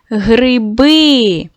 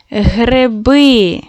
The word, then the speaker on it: гриби: Вимовте гриби. Ми чуємо ненаголошений звук и, чуємо як е.